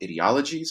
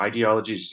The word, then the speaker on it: ideologies: So let's shift gears a bit and talk about political ideologies, or ideologies, you can pronounce it either way, in the United States.